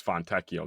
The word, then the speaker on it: Fontecchio: Fontecchio, is that what you're talking about? What? Fontecchio? Yes, Fontecchio.